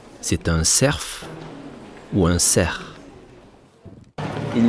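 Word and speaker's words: cerf: le passage du Grand ser à la fin du mot ser il y a un f mais on ne le prononce pas comme souvent en français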